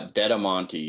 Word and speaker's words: Dettamanti: last name exactly uh deam Monti is how you pronounce it so what's the origin